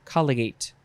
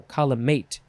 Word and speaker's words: collimate: would be light rays colligate no column mate collimation is a noun